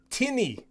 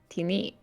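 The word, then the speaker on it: Tini: was going to say tinny t-i-n-i it is giant for shadow tinny it is a fake creature right uh also actually it is weird it's it's slightly different pronunciation it's uh teeny oh wow i hear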